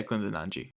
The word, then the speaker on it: Kundananji: It's Kundananji, isn't it? Yeah, Kundananji.